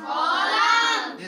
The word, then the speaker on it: column: Silent. ऐसे ही COLUMN को क्या कहेंगे, कॉलम।